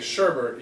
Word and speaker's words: sherbet: Anyway, well, you were saying sherbet. You were putting a non-existent R in the word.